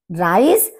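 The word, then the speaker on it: Reis: राइस, राइस, राइस। अब यहां पर देखिए ई आई राइस और यहाँ पर RICE राइस, लगभग एक जैसा सा प्रोनाउंसिएशन है हमारा, लेकिन स्पेलिंग दोनों की डिफरेंट है।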